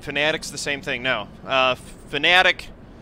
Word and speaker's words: Fanatec: Fanatic, a lot of people pronounce it Fanatec because it's how it's spelled, but the company pronounces it Fanatic.